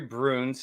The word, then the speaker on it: Bruhns: doing we have a house today miss laurie broons did i pronounce that right yeah you did well wonderful